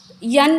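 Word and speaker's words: knee: होता है for example नी इसका हम के का क ऐसे प्रोनंसिएशन नहीं करते नी बोलते इसको नो मतलब मालूम होना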